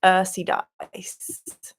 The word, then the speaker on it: ursidice: It's pronounced Earthy Dice.